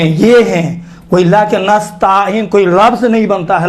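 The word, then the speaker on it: نستعين: ایاک نستعین، دیکھیں تا کے اوپر الف نہیں ہے، یہ چھوٹے حرکات میں سے ہے، زبر بڑا حرکات نہیں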